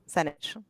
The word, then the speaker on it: Senich: It's not Sanchez. Yeah, it's Senich. So nobody can say it right the first time, but I always say it rhymes with spinach. Senich.